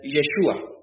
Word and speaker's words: Yeshua: Y la mejor pronunciación en hebreo es Yeshua, Jesús, Yeshua.